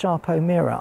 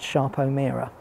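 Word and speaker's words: Sarpo Mira: It is actually pronounced Sharpo Mira. I checked this. I know it's spelled with just an S, but apparently it's pronounced Sharpo Mira.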